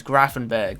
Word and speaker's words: Gravenberch: the iax youtube channel apparently how you pronounce the name is grafenberg which might be right but um just doesn't click in my head but uh yeah if